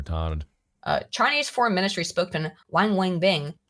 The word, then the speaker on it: Wang Wenbin: Chinese Foreign Ministry spokesman Wang Wenbin said during a press... I hope I'm pronounced... Wang Wenbin. This is how it's pronounced.